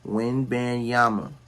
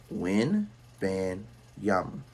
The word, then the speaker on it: Wembanyama: insulate Victor William yes for those who don't know how to pronounce his name Victor win banyama win van yam all right so you podcasters out there get it right win bang okay another